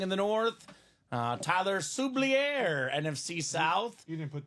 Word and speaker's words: Xavier: the Chiefs Xavier worthy oh look at that suier I pronounced it properly what's up Tyler oh that's